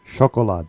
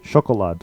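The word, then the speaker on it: шоколад: is of the just the regular sh sound and this one is chocolad chocolad which sounds very similar to the English Chocolate and that's exactly what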